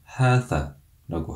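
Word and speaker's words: هذا: 성을 구분해서 남성 명사에게는 하다라고 하고 여성 명사에게는 하디히라고 합니다. 이 지시 대명사를 발음할 때 유의해야 하는 점은 앞에 나오는 이 하자음을 길게 장음으로 발음해야 한다는 것입니다. 그래서 하다, 하디히라고 발음하시면 됩니다.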